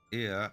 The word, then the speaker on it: Ea: Ia, I believe, was the pronunciation used when referring to our people.